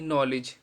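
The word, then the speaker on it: knowledge: के हम नहीं पढ़ेंगे के एन ओ डब्लू एल ई डी जी ई नॉलेज तो यहां पर के साइलेंट है तो एन से पहले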